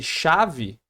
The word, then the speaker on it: chave: Ele tá representando o som, ó, o fonema de X. Então, eu tô usando um C e um H para representar o som do o X, chave.